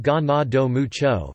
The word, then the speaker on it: Ganado Mucho: he was also called ganado mucho pronounced ganado mucho Spanish for many cattle and mr.